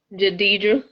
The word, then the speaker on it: Jidedjra: Am I pronouncing your name right? Jadidra?